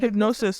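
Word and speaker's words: Hipgnosis: Well, it's spelled in a weird way, but Hypnosis.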